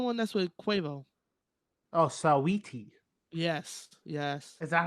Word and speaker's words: Saweetie: maybe it's just sweetie Saweetie, spelled with an Saweetie, A. Saweetie, Sweetie, sweetie. Saweetie.